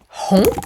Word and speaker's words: rends: Donc tu rends, n'oubliez pas le S, c'est obligatoire, même si on ne le prononce pas.